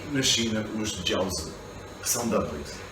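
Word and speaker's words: 饺子: E na China os jiaozi, que são dumplings. Jiaozi, esta a pronúncia em mandarim.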